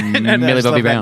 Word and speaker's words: Millie Bobby Brown: Got, Millie Bobby Brown from Stranger Things. That's how it's pronounced. I know. Millie Bobby Brown.